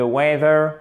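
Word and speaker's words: weather: à à 1 de wever wave un accent tonique sur la première syllabe like to des aristos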